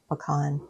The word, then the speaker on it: pecan: Pecan dean, how do you say it? In the south, we're in Alabama, so we say pecan.